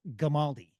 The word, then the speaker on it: Gamaldi: Code 6 at scene with Joe Gamaldi. Did I say it right? You got it right, hard G.